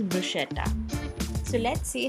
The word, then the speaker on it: bruschetta: The Italians pronounce this as bruschetta and the English pronunciation is bruschetta.